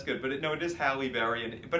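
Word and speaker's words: Halle Berry: game yes I know it is halberry H H halberry hry and Demi more and Demi Mo but but but anyway but Michael D he goes Holly Berry dami Moore John mispronounce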